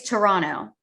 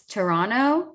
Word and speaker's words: Toronto: Also, while we're here, it's Toronto. It's not Toronto. The second T is silent. It's like Atlanta. I'm sorry. Is this the official word coming from the Canadian government? It's Toronto.